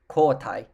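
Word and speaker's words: koutai: call is xx and this word is pronounced koitai k-o-u-t-a-i ko-tai uh there are some alternate pronunciations of this word but kota is probably the one that i've heard the most out of all of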